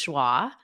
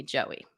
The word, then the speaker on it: Joie: Yes, you were the first to catch that people were saying my name incorrectly because the proper pronunciation is Joie. But my whole life, my mother also called me Joey.